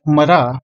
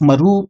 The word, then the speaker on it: Marah: Resh He, and while it is currently pronounced Marah, it could have been pronounced as Maru instead during the time of Moses.